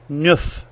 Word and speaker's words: neuf: Finally, we know that the number 9, neuf, ends in a F, but it also changes when it comes before the word heure. Its F sound changed to a V sound, F a V.